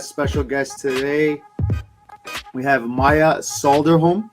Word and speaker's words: Maija: the parlay podcast special guest today we have maya solder home correct i pronounced that correctly it's certain there's no l